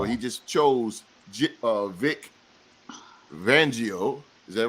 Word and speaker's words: Fangio: he I oh he just chose uh Vic vangio is that right come on thank you you